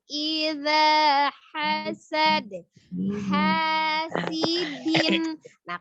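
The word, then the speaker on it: حَاسِدٍ: Wa min syarri hasidin idza hasad. Hasidin. Nah, kalau dinnya kuat dalnya siddah. Hasidin. Nah, jelas tuh ya dalnya bukan hasidin gitu kan.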